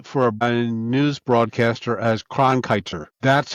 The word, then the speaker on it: Cronkite: Oh, Walter Congrite, whatever his name is. I can't pronounce it.